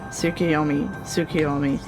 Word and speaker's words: Tsukuyomi: Tsukuyomi.